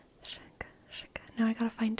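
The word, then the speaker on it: Chachere: Tony Sachery's, which is spelled with a C, even though Aunt Olivia spelled it the way it sounds with an S, which is fine.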